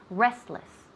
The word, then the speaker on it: restless: Restless, restless. Now notice here, where do we put the emphasis? On the first syllable, restless, restless.